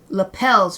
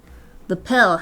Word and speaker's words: lapel: Lapels, right? Lapel. I learned how to pronounce it correctly during this stream. Unless I'm still pronouncing it wrong. Wolf, help me. Lapel. Yeah, because it's like romance language style.